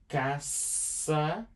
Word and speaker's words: caça: It's always on the middle, and it's pronounced like an S. Cass, the one, the second C. This one is a C with the cedilla. So, caça aos ovos.